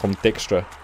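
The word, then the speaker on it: Dijkstra: his name excuse me I'm just call him go dicka it's a silent J you leave it at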